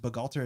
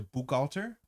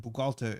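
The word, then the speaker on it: Bukhgalter: everything has downsides so I was hearing cranked pronounced begalter is something closer to book alter and I thought that was weird and then I asked a player in armetta who speaks Russian and bugalta is way closer to what it is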